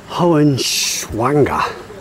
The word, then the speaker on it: Hohenschwangau: There's my castle, the Hohenschwangau. That's the way you pronounce it.